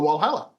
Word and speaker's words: Valhalla: That's how Australians wh a l. So pretty much the same, but but Australians actually say the W is a W and not the W is sort of a a V sounding like um like they do in Europe. So we call it Wallhala. So if we went there, we would we would say, "Oh, we're going to Valhalla."